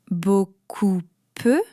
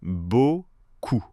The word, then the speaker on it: beaucoup: "Beau-cou-peu" ? Presque. "Beaucoup" se prononce "bo-cou". Le "p" final disparaît complètement.